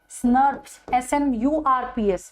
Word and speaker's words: SNRP: So they were pronounced as SNRPs, SNURPs, right?